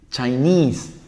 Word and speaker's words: Chinese: la sílaba europe european chain chinese también cambia chain a dos sílabas chinese por sílaba también pero hay un shift es decir hay un deslizamiento del acento muchas bien ya penis